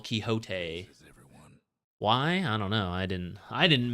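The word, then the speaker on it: Quixote: Uh, you kind of like live in a fantasy world based on Don Kiote, the uh literature icon, but the pronunciation is different from English to the original Kiote.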